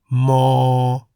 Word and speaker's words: ม: playlist in the description the Thai consonant M sounds like an m at the beginning and end of a syllable Mo the accompanying word ma